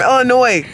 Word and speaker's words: Illinois: I'm from Illinois. And the S is silent, no, so but please don't add she's it.